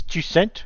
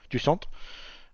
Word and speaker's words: Jusant: Is this Jusant? Have we decided how we pronounce this one yet? Jusant.